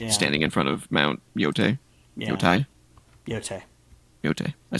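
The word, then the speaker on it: Yōtei: There's that shot of Atsu, the new protagonist, standing in front of Mount Yotai. Yeah. Yotai. I said it right the first time? Yeah. Yotai?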